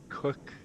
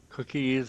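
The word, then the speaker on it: Cooke: still there the old cookies in the fire box because everybody called The Cook which is spelled c o o k e everybody called them cookies but in reality it's really just cook actually interesting to note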